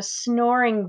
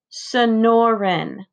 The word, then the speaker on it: Sonoran: already ben nods who ever heard of a snoring desert frankie shouts and the same crew of boys snickers sonoren ben pronounces the word slowly it's the name of